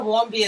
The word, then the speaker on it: Warmbier: And no, it's not nice to talk about Otto Warmbier. He just died, so yeah. Listen to me. Just because his name rhymes with beer and warm, it is warm beer.